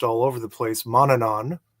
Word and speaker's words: Manannán: So many people are familiar with a deity whose name gets mispronounced all over the place, Manannán, right? Manannán.